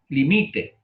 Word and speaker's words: limite: limite, limite, limite el ruido, limite, limite, La palabra llana, grave, no lleva acento. limite. Palabra llana con pronunciación en la penúltima sílaba, ¿verdad?